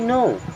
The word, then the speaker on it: know: आई नो what you mean, I means होता है मैं। KNOW इसे पढ़ते हैं नो, एंड के होता है साइलेंट।